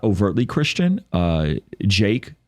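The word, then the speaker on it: JVKE: not overtly Christian uh Jake which is spelled JV K has some amazing beautiful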